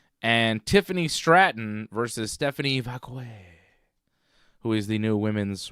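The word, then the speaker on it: Vaquer: Crown Jewel Cody and Seth and Tiffany Stratton versus Stephanie Vakquay, who is the new women's world champion. Stephanie Vakair, you know, if you want to pronounce it that way. I like Nikki Bella's pronunciation. Vqu.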